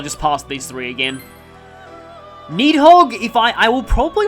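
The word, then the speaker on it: Níðhöggr: fusing that to get need hog i'm pretty sure the r is silent some people say the r but uh yeah i personally um leave it silent it's kind of like cressville there's an r in that but that's often silent but sometimes it isn't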